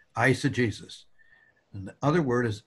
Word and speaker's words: eisegesis: words eisegesis and exegesis ice the beginning syllable is like the eye and ice that it eisah Jesus and the other word